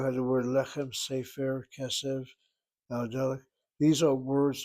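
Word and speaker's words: סֵפֶר: Actually, people don't say sefer. They say sefer. They hit that first syllable.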